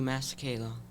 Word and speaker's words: Masekela: called The Americanization of Ooga Booga by, Hugh Masekela. okay, since he's the best one to pronounce it.